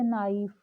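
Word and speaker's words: knife: के साइलेंट कहाँ पे होता है, जैसे नाइफ, नोक या नक्कल। तो यहाँ पे क्या है, के बिल्कुल भी के की साउंड नहीं आती है।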